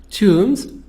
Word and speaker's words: tombs: places for kings tombs tombs be silent t o m b